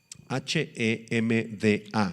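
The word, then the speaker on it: חמדה: La palabra muy amado es la palabra hebrea Hemda, H-E-M-D-A, con acento en la A.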